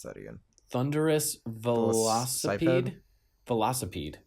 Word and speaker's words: velocipede: that again thunderus veloc velocipede oh yeah like velocity but it's a a insect thing velocipede vede um so this